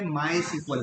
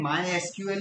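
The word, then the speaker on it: MySQL: Database पे काम करेंगे, माई सीक्वल पर। तो देखो माई और एसक्यूएल, तो इसको आप कैसे प्रोनाउंस करेंगे, माई एसक्यूएल भी बोलेंगे या माई सीक्वल भी बोल सकते हैं।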